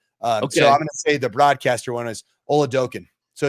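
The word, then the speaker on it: Oladokun: And we don't want to talk about where Oladukin was drafted. Is that what you're talking about? And no, I want to pronounce his name correctly. Oladokin.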